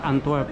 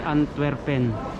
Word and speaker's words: Antwerp: Pero ang pronounce nila dito guys, Antwerp, hindi Antwerpen, Antwerp.